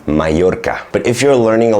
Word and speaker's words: Mallorca: Let's say in Spanish, you have the "ll" when you have two "l's," then it's pronounced as in “Mallorca”.